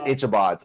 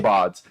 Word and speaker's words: Ichabods: I said Ichabods. I said the Ichabods. He's like, I Ah. butchered that because I didn't know it was ick.